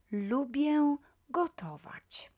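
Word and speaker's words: lubię gotować: you don't mind so lubie gotovac lubiegotovac if pronounced quickly lubyagotovac if pronounced slowly you will you will hear this l nasal pronounced very clearly lubia gotovatch okay let's see if you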